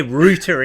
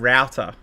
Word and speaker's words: router: saying herb or herb you say rooter instead of router and that is the correct way to say it i have to admit